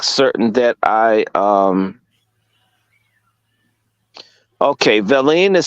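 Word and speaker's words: villein: want to make certain that I um okay Vine is spelled v i l l e i n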